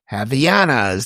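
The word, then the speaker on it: Havaianas: Javiana's, that's what it's pronounced, Javana's flip-flop.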